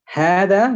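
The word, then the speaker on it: هذا: So you pronounce it as Hada with this alif that you see in front of you. But when you write it out and throughout the entire book, it will be written as Hada. This is the modern day way of writing Hada, which means this.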